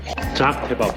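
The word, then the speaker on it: Çağ kebabı: Chak kebab? It's called Chak Kebab. I'm going to try this. Ah, the kebabs look unusual again. jaek kebab jaek (Pronunciation correction class for locals) Zach Kebab um it's delicious I guess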